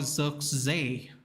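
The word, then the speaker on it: Zirkzee: on this pitch uh apparently you say his name Joshua z z even he has two E's so it's very interesting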